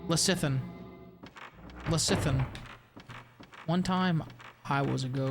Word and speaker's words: lecithin: Soft C and lecithin? Lecithin? It does sound like a GLP-1 variant. They love putting soy and stuff because it's cheap as fuck. Yeah, I don't know what you mean by soft C. Lecithin? Lecithin? Lecithin? I don't know what you mean by soft C, bro. As in, it sounds like an S.